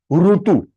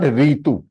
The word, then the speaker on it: ऋतु: Now here this is ru ru, ru short one, rutu, ru rutu, it is not ritu. ये ri is the pronunciation in Hindi, it is not pronounced in Sanskrit that way.